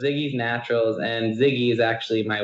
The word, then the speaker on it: Ziggy's Naturals: co-founder of ziggy's naturals is that how you pronounce it yeah so so it's ziggy's naturals and ziggy is actually my wife's name so